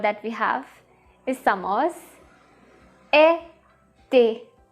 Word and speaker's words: été: So every time you see E accent aigu, that means it has to be pronounced like A.